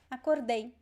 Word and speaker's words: acordei: Past tense is acordei. Acordei, the stress is at the end.